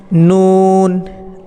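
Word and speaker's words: ن: টান দিয়ে পড়বেন এগুলোকে নুনের ক্ষেত্রে জিহ্বার আগা ওপরে দাঁতের মাড়ির গোড়া থেকে একটু উপরে নুন নুন এভাবে আপনারা নুন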